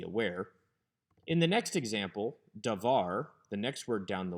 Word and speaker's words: davar: from the tone syllable davar is not a segalet since the emphasis is on the second syllable da var but the patterns of